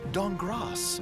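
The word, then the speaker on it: Dankgrass: C-Team, Amy Falcone's Walnut Dongras. The K is silent.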